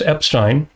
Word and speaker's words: Epstein: Just look for a talk by Alex Epstein. Yeah. Uh, rhymes with Einstein. That's how you can remember how to say his name.